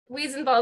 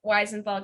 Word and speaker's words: Wiesenthal: Wiesenthal is what I say, but Wiesenthal gets said so much that I'm just like, yeah, close enough.